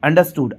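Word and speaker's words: understood: अंडरस्टूड भी कह सकते अंडरस्टूड आर साइलेंट रहेगा है ना तो अंडरस्टूड हो जाएगा अंडरस्टैंड का ये सेकंड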